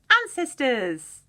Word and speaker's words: ancestors: It's a weird one because it's got the S sound made by a different letter. So we've got an. So S sound. You know, C can either be K, we would call a hard C, like in cap or clap, or if it's in the middle of the word, sometimes it's a soft C, so it's pronounced with a S sound.